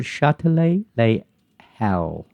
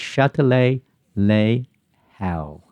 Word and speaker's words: Châtelet les Halles: It's called Châtelet les Halles. Don't pronounce it like that. They don't pronounce the H. They say L. But in English, it's Châtelet les Halles.